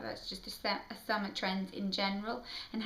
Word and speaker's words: Avia: kind of realized that my name is AA which is spelled a v i a and you say it as AA not AIA not Avia um Lads of people always